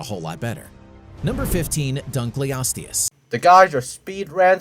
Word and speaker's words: Dunkleosteus: about prehistoric times the dunkley audience what was that pronunciation bro Dunkleosteus that's not that hard to pronounce it correctly not long had its